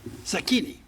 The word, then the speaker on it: Zacchini: Next is Henry Zacchini? How do you pronounce it? Zacchini.